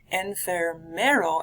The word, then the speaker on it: enfermero: Enfermero, add an extra syllable in there, refers to a nurse. Add an extra ER in the middle of that one.